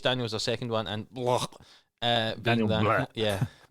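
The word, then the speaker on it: Blough: With Chase Daniels, their second one, and blah, being Daniel Blah. yeah, I think it's pronounced Blau, isn't it? But looks like blah.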